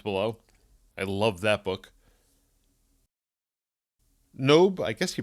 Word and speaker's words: Nob: I always pronounce it knob when I'm reading it, but that's probably wrong. The O sound in French is more of an O than an A.